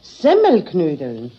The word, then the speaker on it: Semmelknödeln: Richtig muss es eigentlich heißen, Semmelknödeln. Die Semmel muss man dabei betonen, weil doch die Knödel aus Semmel gemacht sind.